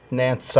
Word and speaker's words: Nanci: was Nancy but right it's actually spelled n-a-n-c-i and and it's pronounced Nancy while my friends call